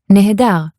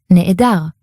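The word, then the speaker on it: נֶהֱדָר: Nehedar, where if it's carefully pronounced, you'll hear nehedar. But if it's more sloppily pronounced, that nehe in the beginning turns into ne'e. It's a long e vowel, and you get ne'edar.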